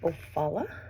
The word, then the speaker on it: Ofala: this dark orange color it's called ofala that's how I would